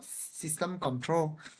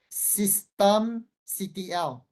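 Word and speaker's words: systemctl: table uh system uh system control I call system control. Okay. Uh sometime the the how to pronounce not not system ctl.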